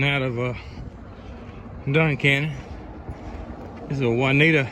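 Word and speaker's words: Juniata: of Duncan is the juanita River is how I pronounce it they may be pronounced differently but that's the way I'm gonna pronounce it pretty nice wide river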